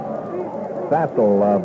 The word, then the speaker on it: Fassel: Jones in, Fassel out at quarterback for Southern Fassel is pronounced? Fassel, Van, he's a boy from Anaheim, California.